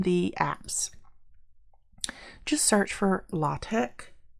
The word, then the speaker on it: LaTeX: show you how to use latex for or latch that is the right way to say that for more advanced math